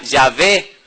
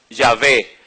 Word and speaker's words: Yahvé: La mayoría de los eruditos hebreos opinan que la pronunciación de las consonantes YHWH era Yahvé.